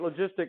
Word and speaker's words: logistic: you remember logistic growth we don't abbreviate logistic log right because we read that as log this is the soft G sound right logistic logistic growth